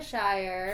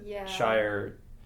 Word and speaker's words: Shire: was 2 syllables, but Shire, I think, is best seen as only 1 syllable. Seen as only 1. You can definitely pronounce it as 2 syllables.